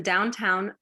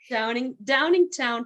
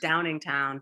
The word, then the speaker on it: Downingtown: Downingtown, Pennsylvania. Oh my goodness, thank you. I messed it all up, each and every one. Downingtown. I wish I lived in the downtown. I know, my eyes just wanted it to say downtown. It's Downingtown.